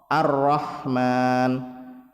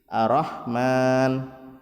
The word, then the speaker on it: ar-Rahman: dua harokat cecak kemudian dalam bacaan ar-rahman dengan menebalkan huruf roh ar-rahman tapi orang salah kadang membacanya roknya tipis Rohman nah ini